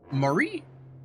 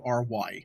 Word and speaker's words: Maury: Okay, so 2021's The Deep House was written and directed by, I'm gonna butcher these names, Julian, I want to say Murray. Julian Murray. It's Maury, and Andre Bastillo, and it stars James Jagger and Camille Rowe.